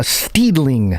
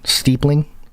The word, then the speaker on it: steepling: hands to this uh steedling I think that's how you say it pronounce it steepling steepling s-t-e-e-p-l-i-n-g and it's like this weird like